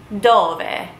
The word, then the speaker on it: dove: Dove. It looks like it is spelled dove, but you would pronounce it dove.